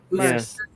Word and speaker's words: Merz: Merz. A Z in German is pronounced as an S.